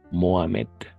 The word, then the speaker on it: Mohamed: Est-ce que Mohamed, le H est toujours muet? H siempre muda. Mohamed.